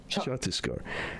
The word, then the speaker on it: Chhattisgarh: Chhattisgarh. Mm-hmm. I'm not going to pronounce it well. You kind of have to get it in your throat a little bit, like. Chhattisgarh.